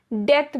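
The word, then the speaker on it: debt: डेथ में आपने एक चीज देखा होगा, बी साइलेंट होता है, इसीलिए मैंने डेप्थ नहीं बोला, डेथ बोला। बी साइलेंट है, तो मेक श्योर आप इसे सही प्रोनाउंस करें।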